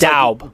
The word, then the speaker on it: Dube: So that's when I gave Lucas Dube, or how do you say it? He said his name's Daub.